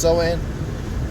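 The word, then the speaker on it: Samhain: doing on it you know you got uh soen approaching which is spelled Sam H but it's pronounced soen which is a straight uh day of Witchcraft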